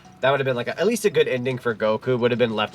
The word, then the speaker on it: Goku: When they called him Gakeo, it's like very, like, he had butchered it, basically. It's just Goku.